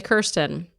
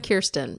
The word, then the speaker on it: Kirsten: So, uh, yes, in Australia, apparently they say Kirsten. Hi, I'm Kirsten. It rhymes with Beerston.